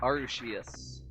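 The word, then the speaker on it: Arceus: If I remember it's arushish or arushius. So it's it's not a hard C or a soft C. It's actually a sh sound.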